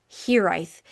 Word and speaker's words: hiraeth: thirdly, we have the Hiraeth. It has a Welsh spelling, but it's pronounced Hiraeth.